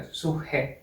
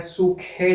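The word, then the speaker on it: suche: अब सूहे कैसे साउंड कर रहा है, सूखे जैसे साउंड कर रहा है, या फिर इसे सूखे भी बोल सकते हैं, सूखे। प्रोनाउंसिएशन में डिपेंड करता है कि आप पोलैंड में कहाँ पर हैं, तो या फिर सूहे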